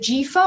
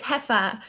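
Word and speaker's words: Jefa: right by the way is it jifa or jeffa yes you're really close it's hefa as if the j was an h but great to see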